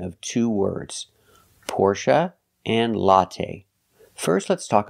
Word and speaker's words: Porsche: will never hear Porsche you will never hear the long a sound for the last syllable it's always Porsche or Porsche now the last syllable is pronounced uh like Cup in up not a like say and pay but uh like cup and up Porche it's a relaxed sound the syllable is not